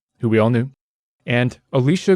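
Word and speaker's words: Elisha: we all knew and Alicia Gray that's spelled e-l-i-s-h-a like Alicia Cuthbert but it's an old dude not a hot young babe both were working independently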